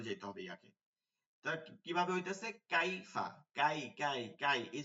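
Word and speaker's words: كيف: নরম করেই পড়ে যাইতে হবে ইয়াকে কিভাবে হইতেছে কাইফা কাই কাই কাই এই যে ইয়াটা ধরছেন এটা শক্ত বুঝাবেই না শুধু ইয়ার উচ্চারণটা আসবে কাই কাই ঠিক আছে তো এইটা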